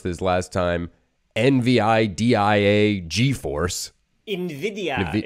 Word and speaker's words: NVIDIA: NVIDIA. It's like the Spanish NVIDIA. Word for envy, which is why their logo is a green eye.